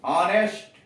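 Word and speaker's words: honest: अब इन शब्दों का उच्चारण कीजिए। रंग, नो, नेटिंग, ऑनेस्ट, शाम।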